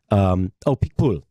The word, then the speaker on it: Picpoul: This is kind of a, if you want to experiment with a new wine, I wish I could pronounce it. Picpoul.